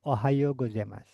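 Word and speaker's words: おはようございます: Ohao gozemas tulisannya Ohayo U. O U dibacanya O. Ohayo gozemas.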